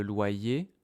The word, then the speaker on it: loyer: Tous les mois, je paye le loyer au propriétaires. Ouais. Mais loyer, regarde la prononciation. loyer. On a loi loyer. Le Y ici, il a deux sons.